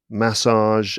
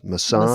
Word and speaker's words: massage: We've got like a duvet and a duvet, a garage and a garage, Huh. um, Yes, ma- garage for sure. And mass duvet. massage and massage. Massage in American English, we say massage. So those ones are clearly different.